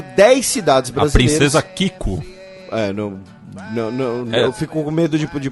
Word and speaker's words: Kiko: A princesa Kiko. Eu fico com medo de pronunciar. Não, é isso mesmo, é Princesa Kiko. Não é piada.